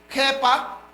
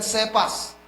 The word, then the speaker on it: Kepha: Kepha po ang pagka-pronounce niyan. Okay? So, kasi they are speaking Aramaic doon. Kepha ang pagka-pronounce, hindi yan Cephas. Okay? Pag sinabi mong Cephas, iba yun siya. Okay? Parang Sopas siya.